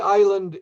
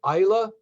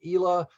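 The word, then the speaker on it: Islay: remember the region because a lot of folks will say to me simon is it isla is it ila just remember isla means island and you got the pronunciation the region or isla have another bowmore so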